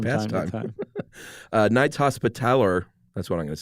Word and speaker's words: Hospitaller: Knights Hospitaller, that's what I'm going to say, of the Order of St.